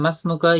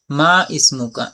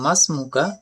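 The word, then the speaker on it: ما اسمك: এখানে মাসমুকা ইয়া ওয়ালাদ, এখানে যে আলিফটা উচ্চারণ হয় না, এর শুরুতে কোনো শব্দ আসলে। মা ইসমুকা, এমন পড়বো না, বলবো মাসমুকা, তোমার নাম কি।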